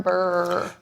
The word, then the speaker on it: BRRRR: Also, Doug, it's pronounced burr. You gotta lean into it a little. Little Lean harder. into it. Look, roll your R's on the end of it.